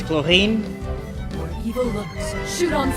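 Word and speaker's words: Clorinde: It should be Chlorine because she has an E at the end. And usually it is pronounced with words like that is pronounced with an N. So it's Chlorine.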